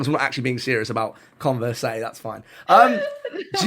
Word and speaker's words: Converse: you say converse oh I say like converse a converse I won't pronounce the e at the end what boys like so